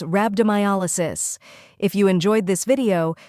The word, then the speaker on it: rhabdomyolysis: a la and sis when you say it all together it's rabdo my Alo sis now it's your turn